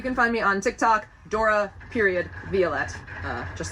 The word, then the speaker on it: Dora Violet: Dora Violet.